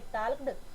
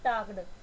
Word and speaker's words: talked: अब इस वर्ड को ध्यान से देखो, मोस्ट ऑफ स्टूडेंट्स क्या करते हैं, इस वर्ड को रॉन्ग प्रोनाउंस करते हैं, या तो बोलेंगे टाल्क्ड या तो प्रोनाउंस करेंगे इसको टाक्ड। तो ये वर्ड होता है आपका टॉक्ड।